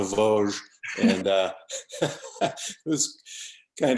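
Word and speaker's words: Vosges: pronounce them correctly i i thought they were known as the voz geez not the voge and uh it was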